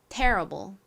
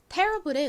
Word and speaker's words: terrible: 가장 앞에 강세를 빡줘서 발음을 해 주셔야 자연스럽습니다. terrible. 한번대 볼게요. 앞에 힘 주세요. terrible. 좋습니다. terrible의 의미는요.